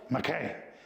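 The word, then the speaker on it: maqii: hard for me it's called a okay spelled McKay it's spelled m-a-q-i-i this when we were in Alaska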